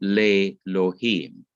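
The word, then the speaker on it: לֵאלֹהִים: put to elohim and instead of saying elohim you said lei lohim and l is another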